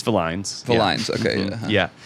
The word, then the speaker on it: Villines: our host villainous just kid is it villainous no it's not people think it's villainous villain V uh yeah all kinds of pronunciations also I get VIN down south yeah it's Vin um okay but what is it actually it's